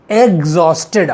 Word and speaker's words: exhausted: Okay, तो एग्जॉस्टेड याद रखिएगा, इसको कैसे बोलेंगे? एग्जॉस्टेड, अंडे वाला एग, जॉस्टेड, EXHAUSTED, एग्जॉस्टेड, थक कर चूर।